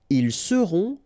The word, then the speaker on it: seront: the end, et serez, ils seront, final T not pronounced, elles seront.